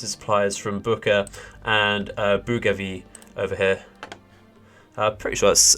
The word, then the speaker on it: Bougainville: take the troops and supplies from Buka and Bougainville over here. Pretty sure that's around how you pronounce it.